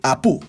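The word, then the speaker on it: Apú: Durante su permanencia en este grupo, le pidieron que cambiara su nombre a Apu. Sí, el mismo pero con acento en la U.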